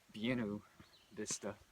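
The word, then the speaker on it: Buena Vista: And for today, thinking about doing 20 miles to US60 and catching a ride into Buenav Vista, which I heard the locals actually pronounce Viennu Vista.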